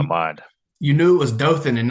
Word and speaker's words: Dothan: my into my mind you knew it was Dothan and not dothin so you're already well uh so Virginia has some interesting pronunciation Stanton even though it's not spelled Stanton